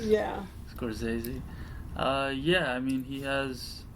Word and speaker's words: Scorsese: You like Scorsese? Yeah, that's how you say it. Yeah. Scorsese.